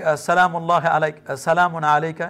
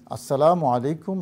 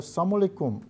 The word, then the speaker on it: আসসালামু আলাইকুম: কিন্তু নাই তবে হ অনেকেই আসসালামুল্লাহ আলাই সালামু আলাইকা এরকম যদি কেউ বলে যে উচ্চারণটা এটা তো মহামুশকিলের কথা যেখানে শান্তির জন্য দোয়া করার কথা সেখানে মৃত্যু কামনা করা হয়।